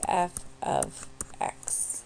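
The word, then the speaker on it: f(x): say f of X so the way to pronounce this is just f of X that's how we say that so then we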